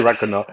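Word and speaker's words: Ragnarök: I can never say Ragnarok.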